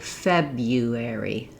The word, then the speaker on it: February: But most native speakers in US English change this first R to a Y sound, and we say February, February. In both versions of the word, the first syllable is stressed. Letter E says the vowel, feb, like in red.